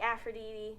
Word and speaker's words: Aphrodite: mount olympus and they're all gods so like aphrodite right that's how you pronounce it athena um apollo that kind of